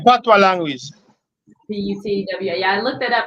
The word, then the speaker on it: patois: Yeah, the spelling for it is kind of not the same way it sound like how it's spelled. Cause it's spelled Patious. You know what I mean? It's spelling, but the pronunciation is Patois. Putwa.